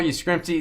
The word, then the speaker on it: Yastrzemski: Carl Yastrzemski.